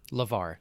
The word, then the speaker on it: LeVar: burton yes from star trek is it lamar levar lavar with the v yeah cause there was somebody